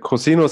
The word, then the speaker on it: COSINUS: So yes, so I will talk about the cosinus experiment. We pronounce it in the German way.